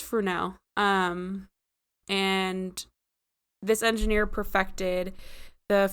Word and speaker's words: Fresnel: So a French engineer, Jean-Augustin Fresnel, I said Fresnel the first couple times, but it's pronounced Fresnel.